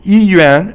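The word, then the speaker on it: 医院: 医院 is the hospital. 医 is first tone, and yuan is fourth tone.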